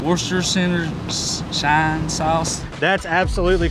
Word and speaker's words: Worcestershire: We also set out to see if anyone actually knows how to pronounce this. Worcestershire. Worcestershire shine sauce.